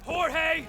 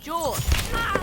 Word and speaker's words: Jorge: way up is last one up gets it jorge my name's pronounced jaw don't you backtalk me jorge what's happening i